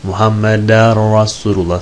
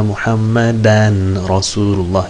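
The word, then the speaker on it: محمدًا رسول الله: Muhammeder Resulullah tecvitten dolayı Muhammeder Resulullah diyoruz ama aslında eşhedü enne Muhammeden Resulullah yazıyor değil mi?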